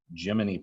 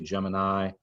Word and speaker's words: Gemini: States, we have the GEMINI program, or again, most people say Gemini. GEMINI is how you typically hear the NASA folks say it because they're sticking closer to the Greek pronunciation.